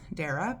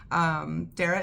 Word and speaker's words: Darragh: It's Darragh, which in my head I would always just read as Dara, but Neil might have intended a different pronunciation, and I don't know Neil, but I'm using his first name.